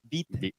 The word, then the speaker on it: bitte: It's bitte. Bitte. Oh. Oh, it's like bitter. Bitte.